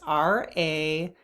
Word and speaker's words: Ravintsara: If you find this difficult, try breathing essential oil, and the essential oil is Ravinsari or Ravinsara. I'm not sure how to pronounce that, but it's Ravintsara.